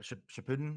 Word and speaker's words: Shippuden: Shippuden, is that Yeah. how it's pronounced? Shippuden, yeah.